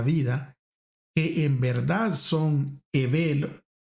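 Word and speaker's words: הבל: Por otro lado, el nombre hebreo Ebel, que en español nosotros lo pronunciamos Abel, significa vapor o soplo y denota evasión, vacío, falta de sustancia.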